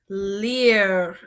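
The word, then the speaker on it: lire: have is the verb Lear so the verb Lear and so our last verb is Le Lear is going to end in r e so that makes a r sound at the end everybody try to say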